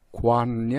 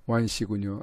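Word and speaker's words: McGowan: 또 오늘 바로 좀 연결을 해보려고 했더니 연결이 바로 맥고완입니까? 맥고완? 맥관이 아니고 맥고완씨군요. 예, 반갑습니다. 맥고완님. 그렇게 발음을 하는 거군요.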